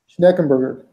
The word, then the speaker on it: Schneckenberger: It's let me spell it for you. It's SCH NCKEN B as in boy URGER. You say that? Schneckenberger.